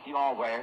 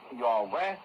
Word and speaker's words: Yahweh: The vowels were not used in the spelling, and nobody is absolutely certain, but apparently it is Y-H-W-H are the consonants and pronounced like Yahweh as far as we know.